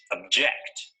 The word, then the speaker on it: object: look at the verb the correct pronunciation of this word is object notice that the stress is on the second syllable object object this